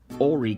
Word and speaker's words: Horry: It's important that we pronounce that correctly, Horry County, and only a short drive to one